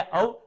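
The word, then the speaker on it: of: अब ध्यान देना, जो पहला ओ एफ है, ओ एफ, उसकी जो प्रोनाउंसिएशन होती है वो सिर्फ अब होती है, लाइक आई एम फॉन्ड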